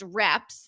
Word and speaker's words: REPS: You have something that's called, and you tell me if it's typically pronounced reps, the reps Yeah.